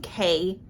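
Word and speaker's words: Kei: Speaking of Kai, I don't want to call him Kai because it's spelled K-E-I, that's why. Speaking of Kay and Hannah, there is a bit of an insta-love here.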